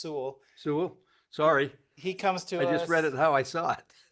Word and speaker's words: Sewell: I know it looks like Sewell, but it's pronounced Sewell.